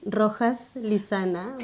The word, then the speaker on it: Rojas-Lizana: special guest yeah wait say that again slowly rojas lisanna but that's okay you can say is lisanna pronunciation is hard yeah so so wait so